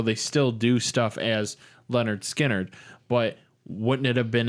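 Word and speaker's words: Lynyrd Skynyrd: couple albums days gone there's there's pretty it's pronounced Leonard Skynyrd is the one the first album with free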